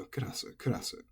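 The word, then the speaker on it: クラス: It becomes almost devoiced kurasu, but the energy is always right here on the ku, so kurasu.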